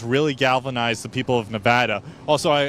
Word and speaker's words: Nevada: Galvanize the people of Nevada also I I was corrected by you your wife before it's Nevada not Nevada I'm sorry I'm trying to